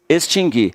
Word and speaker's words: extinguir: Mas o U não tem som, ó, tá? O U não tem som. O U só tem som quando você fala errado. Se você disser distinguir, aí você pronuncia o U, mas está errado essa forma. É distinguir, adquirir e extinguir.